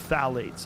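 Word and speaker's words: phthalates: the introduction of Fates it starts with a p p t h a l a t e s I think it's how spell it you say phalates and phalates are type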